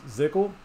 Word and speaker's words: ZCL: So that's what the announcement thread actually says, is to pronounce it ZCL.